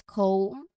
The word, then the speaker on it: comb: Again, the B is silent. It's pronounced as comb with a diphthong in the middle.